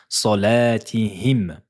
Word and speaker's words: صلاتهم: Prononcez bien la lettre mim ici, juste ici. Elle n'a pas de voyelle, elle n'a pas de harakat, il y a un soukoun, un petit rond. Donc il faut prononcer le premier son qui sort de la lettre salatihim.